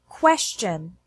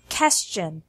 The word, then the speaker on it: question: also contain this sound qu is pronounced kW so it's question and not qestion here are more words